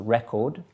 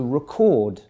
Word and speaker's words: record: that's a record but if you shift the focus the the emphasis of your voice towards the second syllable you get the verb okay I'm going to record right so from record to record different meanings the first one is a noun second one is a verb so record and record